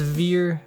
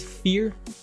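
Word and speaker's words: Vier: Next up is Veer. I think I'm pronouncing this correctly. It's Fear. Fear.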